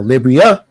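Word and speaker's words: Liberia: the founding of libya i know some people want to pronounce the library but libria like liberty l-i-b-e-r t-y for liberty so libria yeah there you go and you'll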